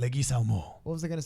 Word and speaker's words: Leguizamo: So there is more people, but it's just That's how I actually pronounce the last name, is Leguizamo.